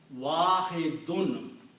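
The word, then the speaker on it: واحدٌ: This word is wahidun. Okay? With the two dhammas at the end and sound of noon.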